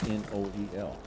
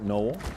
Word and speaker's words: Noel: it's Christmas Day now my last name is n-o-e-l we pronounce it Noel but there's others who pronounce it Noel my